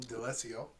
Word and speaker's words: D'Alessio: You've been watching The Real Tea with ESG and special guest Lou D'Alessio.